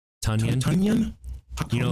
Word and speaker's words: Tonyan: Tonyan. Tonyan. You know, like Funyuns, but Tonyan. Tonyan. Yeah, Tonyan with the T.